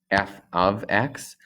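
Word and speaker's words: f(x): a symbol f of x so it is pronounced or read f of x and that is saying that this is a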